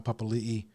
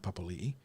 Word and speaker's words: Papali'i: They tried to throw Isaiah Papali'i, which is the correct way of pronouncing that, Papali'i, at him, and he managed to cut him down a few times.